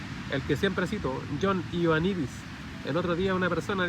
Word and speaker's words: Ioannidis: Se lo voy a deletrear, J O H O N, John, Ioannidis, doctor griego, I latina, O A N de nido, N I D de dedo, I S. Se pronuncia Ioannidis. Publicó un artículo en la